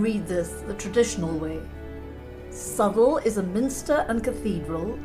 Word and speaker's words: Southwell: to my guns here and insist the correct pronunciation is subtle southwell is so bland so boring so math so